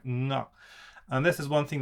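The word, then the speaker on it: が: Sorry, it's written like ga, I should say, but it's pronounced like nga.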